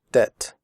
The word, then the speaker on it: debt: traded fitted noted that in the word debt the B is silent we do not say depth we say debt comfortable the word comfortable